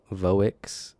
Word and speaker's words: Voics: So you are the founder and CEO of Voix. Is that how you pronounce it?